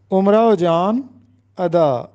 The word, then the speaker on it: امراؤ جان ادا: مرزا ہادی رسوا کا ایک مشہور ناول ہے امراؤ جان ادا، اکثر لوگ اس کو امراؤ جان ادا پڑھتے ہیں، جو کہ غلط ہے۔ امراؤ جان ادا، ادا اس کا تخلص تھا، امراؤ جان اس